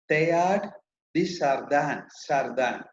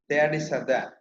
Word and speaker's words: Teilhard de Chardin: Please note the pronunciation. Teilhard de Chardin. Teilhard de Chardin.